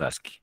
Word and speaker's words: ASCII: Bueno, se pronuncia ASCII, ¿no? Se escribe así. Las dos últimas verticales no son L, son I mayúsculas, ¿ya?